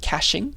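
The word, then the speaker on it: caching: this is this is this word is called cashing that's how you pronounce it there are there's there's there's there's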